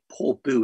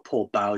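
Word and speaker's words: Portbou: And so I ended up following the trail all the way out there to Port Bou, it's called, or Port Bow, depending on your pronunciation, on the Franco-Spanish border.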